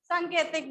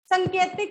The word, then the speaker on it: सांकेतिक: सांकेतिक भी लिख सकते हैं। संकेतिक नहीं होता, सांकेतिक। बोलने में हम गलत करते हैं तो इसलिए फिर चलो जी, चलो जल्दी लिखो, मैं फिर से साइड हो जाऊं।